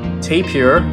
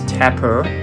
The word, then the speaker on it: tapir: a kangaroo this is known as a tape here or you can also pronounce it as tapper this is a chimpanzee